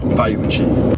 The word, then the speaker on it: Pioche: On avait envie de sortir un peu des sentiers battus, des circuits connus, et qu'on va vers Paiuchi. Ça s'écrit Pioche.